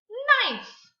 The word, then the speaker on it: knife: Next, we have, let's say it together, knife. We don't say knife. No, the K is silent. We only hear the N at the beginning of the word.